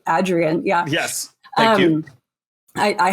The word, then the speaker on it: Adrienne: I learned that she's called Adrienne, like the A is in hat, by going to the archives and reading her say in an interview, "You pronounce the A in my name like hat."